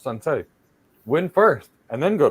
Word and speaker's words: Sun Tzu: As Sun Tzu said, actually pronounced Sun Tzu, win first and then go to war.